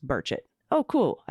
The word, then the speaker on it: Burchett: burchett's name is pronounced Merchant oh cool I said it right uh I'm sorry if I said it wrong before Kimberly we like to tell people it sort of rhymes with bird anyways